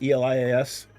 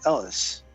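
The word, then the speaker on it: Elas: Is it Elias? E-L-I-A-S? Elias. Ellis. No, it's Ellis. It's E-L-A-S. E-L-A-S. Got it.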